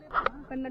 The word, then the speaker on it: Kannada: कन्नड़ में सारा वायरल करूंगा. चलो भैया बहुत फॉलो. वो कन्नड़ नहीं है, कन्नड़ा. कन्नड़ा कन्नड़ा या सब लोग कन्नड़ बोलता है, कन्नड़ नहीं है, कन्नड़ा. कन्नड़ा वो प्रोनाउंसिएशन.